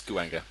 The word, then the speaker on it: Guwange: I don't even know how to say the name properly. Guwanga or Guwange, one of those two. It's Guanga. Guwanga. Yeah. Is it?